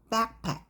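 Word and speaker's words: backpack: 꾸러미 그래서 백팩이에요 그리고 명사와 명사가 있을 때 강세를 백팩 이게 아니라 앞에 주세요 명명 합 이렇게 말하거든요 백팩 이렇게 발음하면 되고 드는 뒤고 그다음 베이컨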